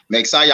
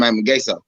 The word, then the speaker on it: Magsayo: Yeah, I've been saying his name wrong. Magsayo. I've been calling him Magaso.